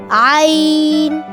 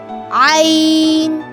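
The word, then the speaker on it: عين: with a specific sound, Ain. It sounds like I and in sound, Ain. How to pronounce Ain? Create a sound from the middle of the throat and then slightly press the neck.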